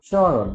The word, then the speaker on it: স্মরণ: স্মরণ, যখন ম ফলা থাকে কখনো তখন একটু চন্দ্রবিন্দু দিতে হয়, উচ্চারণ একটু যোগ করে বলতে হবে স্মরণ, মানে নাক দিয়ে উচ্চারণ হবে।